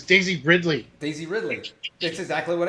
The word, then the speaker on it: Ridley: It's Daisy Ridley.